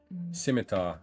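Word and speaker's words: scimitar: do that then 125 simitar I had a feeling but it's always a 50 50/50 on how I'm going to pronounce it without the K you don't say C you don't say the C skim no yeah I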